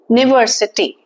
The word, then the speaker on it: university: But when we pronounce it, the pronunciation comes to Y-double-O, university.